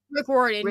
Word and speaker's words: Rick Riordan: Is that how you pronounce it? That's the guy that... Rick Riordan, yeah.